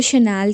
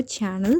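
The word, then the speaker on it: Chanel: Okay, cocoa शनाल कह सकते हो, कोको चैनल कह सकते हो, जो आपका प्रोनाउंसिएशन है आप उस तरीके से लेना।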